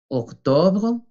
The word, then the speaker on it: octobre: Octobre, octobre. La E final no se pronuncia igual que septiembre.